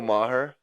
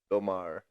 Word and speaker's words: Maher: Bill Maher. Maher? Yeah, I believe that's how you say it. It's spelled Maher, I believe. Bill Maher.